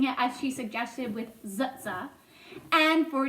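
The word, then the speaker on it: TsTs: s t s today I'm going to be pronouncing it as she suggested with zutsa and for t c h k e I'm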